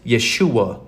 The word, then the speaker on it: Yeshua: or the the pentagramaton which is pronounced Yeshua in Hebrew it's why a s